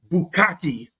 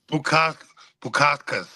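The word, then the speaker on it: Bukauskas: He's 33 years old, and he's fighting Modestas Bukaki. I'm just saying Bukaki because I can't pronounce his last name. Bukakas.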